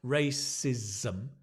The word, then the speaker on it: racism: English racism agism sexism okay difficult words to pronounce racism remember slow down racism racism it's a s